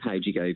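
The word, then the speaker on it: Howgego: It's Caleb How'd-you-go, but don't worry, you're not.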